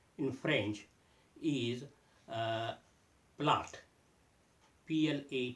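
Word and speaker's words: plat: word for dish in French is uh PL p l a t but as I said t the last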